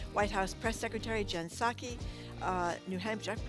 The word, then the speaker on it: Psaki: with the former White House Press Secretary Jen Psaki, New Hampshire, did I pronounce that right? Jen Psaki, yes.